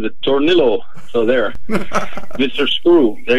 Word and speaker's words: Tornillo: Now, does he pronounce it Tornillo or is it Tornillo like they would if you were... Tornillo.